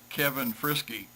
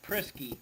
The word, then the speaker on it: Prisky: Well, I pronounced it Kevin Frisky. Oh, don't worry, I've been called worse. Don't worry about it. It's No problem. actually Prisky, but I like Frisky better.